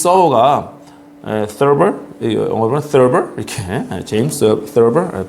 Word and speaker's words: Thurber: 영어로는 Thurber 이렇게 제임스 Thurber 발음이 TH 발음이라서 조금 쉽진 않습니다. 그냥 사실 서버 그러면 안 되죠. Thurber 터버와 서버의 중간 발음 정도 됩니다.